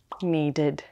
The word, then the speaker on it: needed: All right, congratulations to those who chose needed. Need ends with the D sound, so the ED is pronounced as id. Needed.